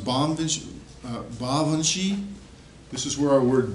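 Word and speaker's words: Baobhan Sith: Isles but we have this one it's actually pronounced bondage ba Vinci this is where our word Banshee comes from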